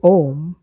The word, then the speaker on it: Om: So here we have understood that the correct form of reciting or pronouncing Om is both the short and the long which we learned from the Shri Shiva Puranam.